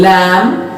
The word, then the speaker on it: lamb: Pay attention, B is silent in lamb, L-A-M-B, the spelling is written, but B is silent, so we pronounce it lamb.